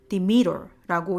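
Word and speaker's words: Demeter: 데메테르라고 하죠. 디미터라고 영어로는 발음이 되는데 이 퍼시포니가 그 디미터의 딸이기 때문에 세상의 모든 농작물의 life and death 그리고 그 사이클을 관장하는 그런 역할을 했었죠.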